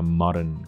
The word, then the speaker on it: Marin: 大家好，我是 Paul，最后到最后因为企图。芬兰总理，就这位女总理很年轻，36岁，哇塞，比我小快10岁，然后当上总理，我在干嘛？靠北，好，这不是重点。还有那个 Justin Trudeau 这么帅，当上总理，我在干嘛？好了，我帅也没得比，然后成就也没得比啊，没什么好比的。总之，这个总理他最近呢，深陷了一些这个叫丑闻吗？我真的也不觉得那叫丑闻，就是大家觉得他做的事情不对，他去 party。然后在 party 里面呢，跪着呢，哇，这边跳舞，手摆头后面，在那边扭这样子，就这样子很开心的状态，结果被他的在场的人拍下来，然后就流出来了这样子，然后就有人说，你总理怎么可以这个样子啊？啊，不顾形象嘛，这样，所以他的目前的状况就这样子。那我们就来看一下这个新闻报道是怎么说的哈。那我们用这个，刚刚看完他的脸，然后我们就可以把它换成这个模式。Does a prime minister have a right to party?Finland split over Sanna Marin clip. Marin.